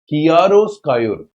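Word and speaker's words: chiaroscuro: इसको याद करने का तरीका, कियारो, इसका कियारो, उस पर प्रोनाउंसिएशन स्कायोर, कियारो स्कायोर, ये इसका साउंड है, ठीक है।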